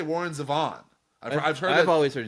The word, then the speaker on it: Zevon: Yeah, Zevon. Yeah, Okay. Warren Zevon, yeah. Yeah, that's how I've always Okay. said Yeah, it. I mean, but I've heard yeah. other people say Warren Zevon.